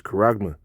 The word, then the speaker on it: charagma: But the first part of that is charagma, right?